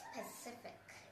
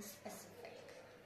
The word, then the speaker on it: specific: It's not Pacific, because Pacific is an ocean, the Pacific Ocean. So make sure to pronounce all the words in specific.